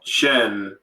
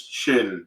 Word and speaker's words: Shin: Also, you said Shen. Shin. Name's Shin, not Shen.